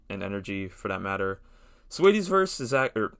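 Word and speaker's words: Saweetie: Sweetie's verse is that, or I keep pronouncing her name like it's spelled, even though it's just Sweetie. It's just spelled funny.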